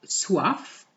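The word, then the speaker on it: soif: we're going to have suaf which is the first la suave it's feminine je suaf have you noticed that i pronounce the f je suave oh i'm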